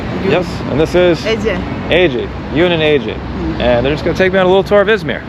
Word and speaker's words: Ece: AJ.